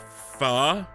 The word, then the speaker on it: pho: that soup is called pho, So, and there's no pho. K sound at the end.